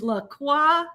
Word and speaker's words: LaCroix: It is LaCroix, not Yes. LaCroix.